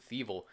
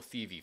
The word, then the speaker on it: Thievul: involving in DD and Fievel this time I didn't mispronounced it I keep saying indeed Oh thievery for some reason for some reason to keep doing that so leave a like